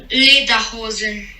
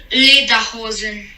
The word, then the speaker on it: Lederhosen: Vamos escutar corretamente a pronúncia em alemão. Dirndl. Traje feminino. Dirndl. E agora o traje masculino. Lederhosen. Novamente. Lederhosen.